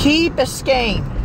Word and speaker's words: Key Biscayne: Key Biscayne.